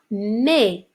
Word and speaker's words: mes: On a mais, ça s'écrit M-E-S, ça se prononce mais.